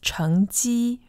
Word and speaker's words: 成绩: And just to note, the pronunciation in Taiwan is 成绩, second tone, first tone.